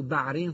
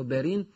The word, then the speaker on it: بارين: في هذه المنطقة هو حصن بارين أو بعرين في بعض الكتابات، لكن النطق الصحيح له بارين.